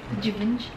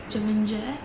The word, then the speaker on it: Givenchy: Givenchy. Basta, yun na. I think in France, it's Givenchy. Givenchy. But here, Givenchy.